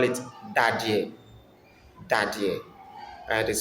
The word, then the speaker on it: Dadeɛ: In Nzema we call it Dadeɛ. Dadeɛ. And it is spelled as D A D E Dadeɛ.